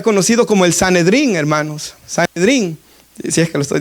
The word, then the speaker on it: sanedrín: Sanedrín, si es que lo estoy diciendo correctamente, porque a veces digo senadrín, sanedrín es sanedrín, ¿verdad? Lo he estado pronunciando mal, creo yo, hermanos.